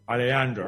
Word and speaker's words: Alejandro: Alejandro, right? You pronounce it like a Y.